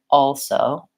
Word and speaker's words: also: that doesn't sound correct so I do have to say also also but I just very very quickly and lightly touch my tongue up for the L and then it goes right into that s position so one thing you